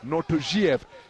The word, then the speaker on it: Nortojiev: Asked his team whether it's Nortojiev or Nortojiev, and they informed me in no uncertain terms that it's Nortojiev is the correct pronunciation.